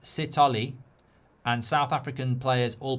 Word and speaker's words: Sithole: Spartans says that it's pronounced Sithole, and South African players all play at altitude as well.